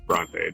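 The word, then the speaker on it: Brontë: Bronte is pronounced, by the way. Bronte. There's the mispronunciation for today. It's Bronte.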